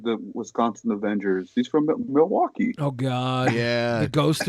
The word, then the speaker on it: Milwaukee: wisconsin avengers he's from milwaukee oh god yeah the ghost which is actually pronounced miliwa k which is algonquin for the good land the good land